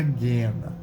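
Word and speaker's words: geena: palavra vem daí né Ela vem da guena que se escreve g e e na tá então é é guena na pronúncia tá com dois é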